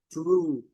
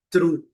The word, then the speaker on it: true: True. Coloquei até um u imaginário aqui dentro desse R pra gente não falar true. É muito comum nós, né, pronunciarmos true, mas não a pronúncia, melhor pronúncia é true.